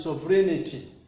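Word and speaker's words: sovereignty: not so breed unity we don't pronounce that letter G we are met it now pronounced Asia so the word is serenity when we are saying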